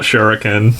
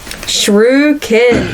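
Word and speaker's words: Shruikan: now here we go shrew kin shrew kinis emphasis on the Shrew yeah he's not much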